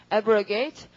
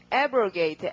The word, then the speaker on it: abrogate: 우선 D를 붙일 테고 모두 다 그 강세가 접두어에 있잖아요. 지금 abrogate, arrogate 그러니까 어떻게 derogate 이렇게 되는 거죠. 자, 그 다음에 밑에 보시면 신문하다가 있죠? 맞죠? 신문하다. 그러면 보통 신문하고 이럴 때 인터뷰처럼 하는 거니까 인터를 붙이시고 강세는 역시 접두어에 있어야 되니까 발음이 interrogate 그렇게 해서 이 4개는 확실히 외우시겠죠.